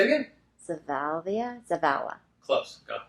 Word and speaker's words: Zavala: I wrote it out phonetically. Say it again. Zavala. Close. Go. Zavala.